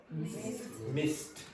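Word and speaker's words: missed: So as a consequence, the ed pronunciation is t, which is also unvoiced.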